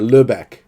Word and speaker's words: Lübeck: Sorry, Lübeck is how you said it, right?